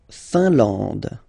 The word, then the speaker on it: Finlande: La Finlande. I-N here, nasal, un. A-N, nasal, en. And then D, final E, not pronounced.